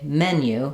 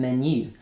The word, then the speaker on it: menu: So, um, for example, just a simple word like menu in French is stressed on the second syllable. in English is stressed on the first syllable. So we say menu rather than menu.